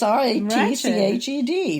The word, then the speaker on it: Ratched: play and everything else i thought ratchet was spelled with a t it's r-a-t-c-h-e-d ratched and it's not as some of you might think rat which i've also seen spells no it's ratchet um so definitely a